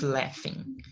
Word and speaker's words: laughing: A gente tende a pronunciar laughing por conta né, da grafia, né? Aqui se escreve L-A-U, então a gente acaba pronunciando laugh, mas não é laugh.